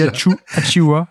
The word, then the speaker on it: Achiuwa: Achuya. Non, Precious Achiuwa n'est pas là. Non. Comment tu dis, toi? J'arrive jamais à prononcer son nom. J'y arrive. Moi, je dis Achiuwa et je le dis vite.